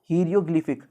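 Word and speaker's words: hieroglyphic: Okay, इसकी correct pronunciation आप देखो, हीरियोग्लिफिक।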